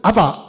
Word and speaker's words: 아바: 그러니 여기 지금 아빠 하는 거는 이 아람어의 아버지를 아바 이렇게 하거든요. 아바. 이걸 우리가 읽으면 뭐로 읽겠어요? 아빠라고 읽게 돼 있죠.